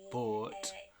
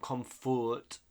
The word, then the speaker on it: comfort: It's not comfort, comfort. I know in Spanish it's like comfort, but no, you give comfort to the poor old people, elderly people.